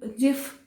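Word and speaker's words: GIF: तो हम इसको गिफ नहीं बुलाएंगे, जिफ बुलाएंगे।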